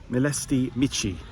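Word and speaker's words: Mileștii Mici: Next destination, I have arrived at, and I'm going to pronounce this correctly, Melsti Mitchi, which is one of the largest wineries uh apparently in Europe.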